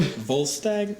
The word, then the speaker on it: Volstagg: Ray Stevenson, who I want to see you pronounce his name. Volstagg?